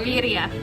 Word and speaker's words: birria: It's pronounced birria.